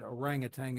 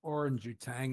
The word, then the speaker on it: orangutan: One of which was when he mispronounced the word orangutang as orange tang because he'd never seen the word in print.